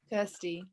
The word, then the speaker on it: Kirsty: Kirsty. Like thirsty? Yeah. Kirsty is thirsty.